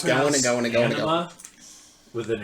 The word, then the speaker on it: Anima: Anima with an A, like an anima.